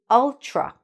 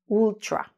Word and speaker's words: ultra: What you should not do is to pronounce the U, the short U sound, like an oo.